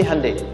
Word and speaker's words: Hyundai: Kita bisa kita dari tekad sehingga ketika di sana bikin Honda sini Hande Hyundai kan dibacanya Hande ya kan sana Honda